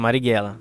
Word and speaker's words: Marighella: Marighella, é isso mesmo, é assim que pronuncia, né? Isso, Marighella.